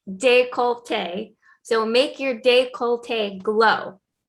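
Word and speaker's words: décolleté: says make your decollete i was saying decollete but i think it's pronounced de colte so make your decollete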